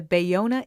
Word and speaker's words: Ballona: marsha hansgum she is the co-director of the bayona institute which is a project of the international humanities center bayonna is spelled b-a-l-l-o-n-a and that's in the playa del